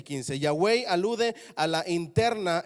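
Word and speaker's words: Yahweh: jarl o a mí me dijeron que ese te traga monte programa ton se pronunciaba ya way ok ahora eso no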